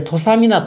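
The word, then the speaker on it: 土佐湊: 次、はい、これ土佐湊と読みます、うん、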